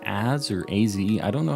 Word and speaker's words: AZ: It's pronounced AZ. It's pronounced AZ, huh?